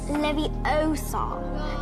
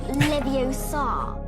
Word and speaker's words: Leviosa: It's Leviosa, not Leviosa, which is like Hermione being a know-it-all in Harry Potter about how Ron was pronouncing Windardium Leviosa.